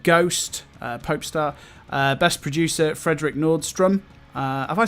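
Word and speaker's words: Nordström: Best producer, Frederick Nordstrom. Have I said that right? Is that how you pronounce his name? Nordstrom.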